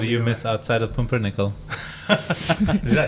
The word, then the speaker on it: Pumpernickel: What do you miss outside of pumpernickel?